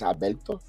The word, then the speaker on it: Alberto: So Albert Abreu, Albert, but really in Spanish it's Alberto.